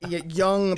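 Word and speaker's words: Jung: we know of is Young yes and and and many many young pagans no pun intended don't understand that um by the way it's spelled j u n g for those when it's young yeah um and it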